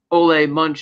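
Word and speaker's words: Ole Munch: in the dark to the gas station where olle Munch as we learn his name is pronounced kills Gator's Deputy with pinning the note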